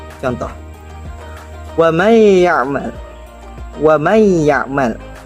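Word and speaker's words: ومن يعمل: Contoh: wa may ya'mal. Wa may ya'mal. Wa may ya'mal terdiri dari kata man dan ya'mal. Man dan ya'mal. Nun sukun bertemu dengan ya.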